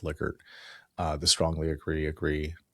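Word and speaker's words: Likert: It's pronounced liquor.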